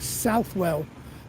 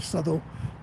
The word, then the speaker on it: Southwell: And Southwell, people around here do tend to call it Southwell.